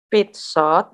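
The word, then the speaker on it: пятьсот: Karena pit shot, ini Miss gambar sini, tekanannya di mana? Di shot kan? Berarti ini nggak bertekanan, bacanya I, pit shot.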